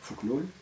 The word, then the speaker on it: Fokonolona: Et dans le domaine national, il mit surtout en pratique et en œuvre le Fokonolona, on prononce en malgache Fuknul, c'est-à-dire une collectivité traditionnelle